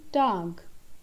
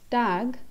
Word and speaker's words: Tag: So this word Tag, it's not English tag, but this is Tag. Again, I give the pronunciation of A as A over here.